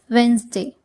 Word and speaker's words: Wednesday: Yes, it is pronounced as Wednesday.